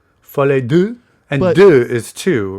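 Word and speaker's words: folie à deux: Oh my God, you said it in the most American way possible. Well, I think that's part of the problem. Folie Duke? How do you say it? Folie Duke? Folie Duke? Folie deux.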